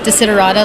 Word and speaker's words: Desiderata: social media sure well my name is actually pronounced desiderata like you said correctly people might know